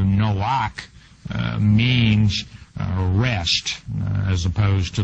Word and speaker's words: Noach: Now, the masculine form of Noah, actually pronounced in the Hebrew, Noach, means rest, as opposed to the female version meaning movement.